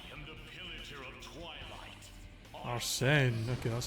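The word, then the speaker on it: Arsène: Arsene.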